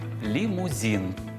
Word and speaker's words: лімузин: яка ж друга помилка лімузин ну це із серії укусна конфета Белочка коли на українські слова накладають російську вимову найчастіше це буває саме